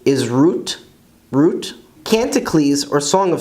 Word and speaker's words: רות: Ruth is Rut, Rut.